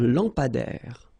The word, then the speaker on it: lampadaire: Final E not pronounced. Un lampadaire.